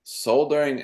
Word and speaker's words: solder: it okay so s soldering and soldering same it's just that in in America we don't pronounce the L uh well you could